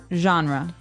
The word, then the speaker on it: genre: We say genre. Genre. Word genre. This kind of sounds French.